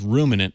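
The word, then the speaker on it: Roominant: It's Ruminant with 2 O's. So it's ROOMIN N-A-N-T.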